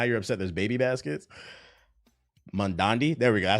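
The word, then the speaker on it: Mamdani: Mandandi? There we go. That's how you say his name, Mandandi.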